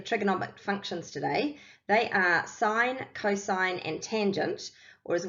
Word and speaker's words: sine: Okay, so let's have a look at sine first. Okay, way A, it is not pronounced as sin. It is actually pronounced as sine, even in its short form.